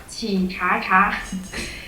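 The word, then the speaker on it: Qichacha: as i know there is a website called chichaka it's spelled as q-i-c-h-a-c-h-a dot com this is kind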